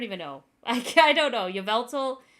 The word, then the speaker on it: Yveltal: Yveltal. I was calling him Yvoltal. Yeah, it was Yveltal. Because I was saying Yvoltal for the longest time. So that's on me not being able to pronounce words.